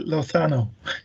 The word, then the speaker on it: Lozano: this week the ceo of netherlands lothano you're very welcome to the show hi